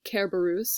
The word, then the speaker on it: Cerberus: referring of course to Cerberus or care Bruce as we would pronounce it in Latin and then supposed to